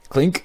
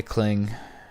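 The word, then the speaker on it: Klink: look all right let's find the cling or is it clink it's probably clink not cling all you are yelling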